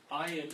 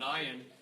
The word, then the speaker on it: ayin: you were taught that the letter ayin is silent. That is not correct. According to Torah, ayin, which is the letter all the way down here in the 70 position, ayin is a guttural letter.